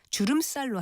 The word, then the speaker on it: 주름살: 이것 역시 주름살이라고 쓰고 발음은 주름살로 합니다.